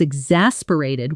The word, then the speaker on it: exasperated: Let's break the sound down. X-as-per-a-ted. The stress is on the second syllable. In fast, natural speech, the middle often blurs together. Exasperated.